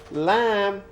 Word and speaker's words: lamb: of the sheep but remember that lamb you write it L a and B be silent so when you say